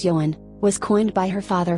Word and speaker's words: Johanne: Her name Joanne, which is pronounced as Johann, was coined by her